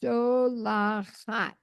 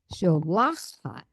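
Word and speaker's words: שׁוֹלַחַת: sholachat. Yes, sholachat. And technically, because you have two pataks, remember if it's an ayin or a het, then the accent is on the first patak.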